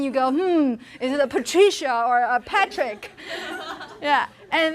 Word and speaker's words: Patricia: Abigail and Martina, Marty, Patricia. Patty. Are there other ways? Tree. Patricia is special because the stress is not on the first syllable. Where is the stress of Patricia? It's in tree.